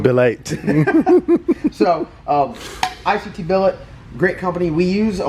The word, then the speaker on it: ICT Billet: ICT Billet. I'm going to get through the whole video today and not pronounce it ITC Billet.